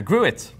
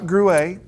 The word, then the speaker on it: Gruet: First one is the Gruit. Gruit. Not Gruet. No, it should be Gruet. I wonder if you want to pronounce it wrong. Yeah. But it's Gruit. Which and it's not does French. sound better. Anyway, so. No, it's actually from New Mexico.